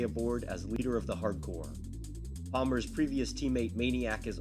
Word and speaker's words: H.A.R.D. Corps: a lot of them are corpses but it's pronounced hardcore i uh have been very busy all day